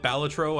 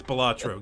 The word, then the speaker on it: Balatro: But if you call it Balatro, I will never speak to you again. It's Balatro, goddammit.